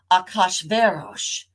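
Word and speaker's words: Achashverosh: his name in Hebrew in English we usually say something like hey Iris it's got lots of syllables okay and there's not even total agreement about how to pronounce that but in Hebrew his name is something like Akash verosh so that's how I'm going to be pronouncing it today and Esther in Hebrew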